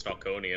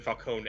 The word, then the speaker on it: Falcone: in is begins it's Falconi it's like okay I guess that's what it is and then it's been Falcone every time since so it's like oh I guess they got I guess I've been pronouncing it wrong because of it every